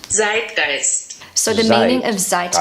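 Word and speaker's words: Zeitgeist: pronunciation is not perfect so this is what it sounds like on Google translate Z gist so the meaning of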